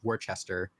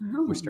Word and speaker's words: Worcester: have confusing names too growing up in in Massachusetts you always knew um who was from out of New England when they pronounced w w Worcester wrong Worchester what Wester Worchester Worcester Wester Mass yeah that's funny um